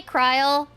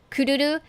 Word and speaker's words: Kururu: People will probably say Kryl, but the thing is, I don't know, I don't like the sound of it. I just say her Japanese name, the Japanese pronunciation of her name, Kururu. So just to clarify, that's why I'm saying Kururu.